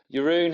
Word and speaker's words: Jeroen: and this week we have a special guest Yun how are you I'm great man thanks for